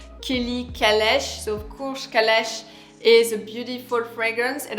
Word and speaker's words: Calèche: So of course Calèche is a beautiful fragrance, and I don't think you can pronounce it in English. It's really a fragrance that you have to pronounce in French.